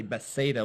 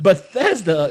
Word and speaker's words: Bethesda: And now whenever I see Bethesda, it's spelled pretty close to Bethsaida. So I say Bethsaida without thinking about it.